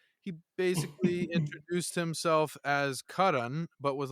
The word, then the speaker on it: Karan: "You can call me Curran." That's what Americans always call me. Just don't whatever you do, don't call me Karen, but you can call me Curran. Just pronounce it. Imagine it's spelled Curran.